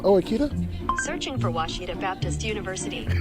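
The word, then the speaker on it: Ouachita: Searching for Washita Baptist University. Back in Texas, everybody pronounces it Witchita, but really it's how would you pronounce it? It's Baptist University. Get it right. It's people. It's wash it off.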